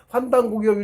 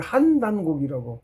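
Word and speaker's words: 환단고기: 그게 지금 그 뜻이 다 없어지고 발굴환이라고 사전자니까 그것만 나오니까 환단곡이라고 요즘 사람들이 읽거든. 아니라고. 하나님 한단곡이라고. 봉구 스님께서도 한단곡이라고 읽으셨어요. 그래서 저도 또 굳이 더 뜻을 알면 당연히 그렇게 돼.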